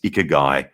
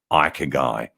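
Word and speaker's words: ikigai: with a model and i've you've got this icker guy or actually you know the correct pronouncing pronunciation i understand is ike guy so um so you may have heard of ikogai which is a japanese model for career choice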